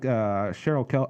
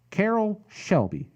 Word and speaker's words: Carroll Shelby: this movie and yeah he's kind of like Cheryl Kelly okay I keep saying it wrong Carroll Shelby Carroll Shelby damn it Carroll Shelby you know